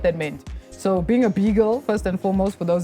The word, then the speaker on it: B-girl: You pronounce that like a beagle. beetle. You're like being a beagle. B-girl.